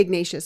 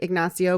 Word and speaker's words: Ignacio: like ignacio or ignacia well we would say ignatius i think but in spanish it's like ignacio but since they're saying it's named after him i guess he pronounced it ignacio okay sounds a little